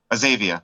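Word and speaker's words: Azavea: During your 20 years at Azavia, how you pronounce it? The name of your company? Azavia.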